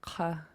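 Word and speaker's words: ḵa: The first word means and it's an underlined K, so it'll be pronounced in the back of your throat. Repeat after me. Ka.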